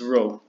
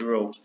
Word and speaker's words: rho: kind of like a stretch T and it's ro that's how you pronounce it ro so we write NC as Rho equals n